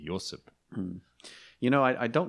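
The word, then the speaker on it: Ioseb: As Yosef, actually, in Georgian, I believe it's I-O-S-E-B, Yosef.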